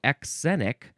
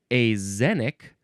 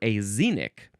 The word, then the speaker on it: axenic: Now, that is not how you are supposed to pronounce it. I am so sorry that I gave you false information. You can pronounce it either azenic or azenic, because sometimes the X sound is a Z sound.